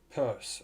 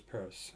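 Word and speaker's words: Peirce: I can't spell Pierce Charles Sanders Pierce purse okay that's how you pronounce it Charles Sanders purse okay was an American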